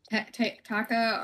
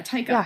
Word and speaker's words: Taika: Taka or Taika, I can't remember. I think it's Taika Waititi. Yeah, Taika. Yeah, Taika. That's how you pronounce it.